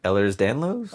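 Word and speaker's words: Ehlers-Danlos: I don't I don't I don't want to mispronounce it. Do it. No, no, do it. Ellers Danlo. Oh, you got it. That's boring. Yeah. Yeah. Educated. But Ellers Danlo syndrome.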